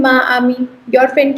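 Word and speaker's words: amie: The pronunciation remains just the same, it's ami.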